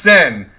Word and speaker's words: Cyn: It does look like Sign. that though. It does look like Sign that. Reaper. Sign. Hi, sign. How you doing, sign? Please, it's pronounced sin. Please pronounce sin.